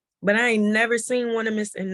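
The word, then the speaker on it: Onesimus: One I must. That's how it's spelled. But his name was Onemus, and he was like a healer in the slave fields and stuff.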